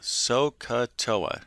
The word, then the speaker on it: sohcahtoa: this crazy phrase okay it's called so CUH Toa sohcahtoa it sounds kind of crazy I know it does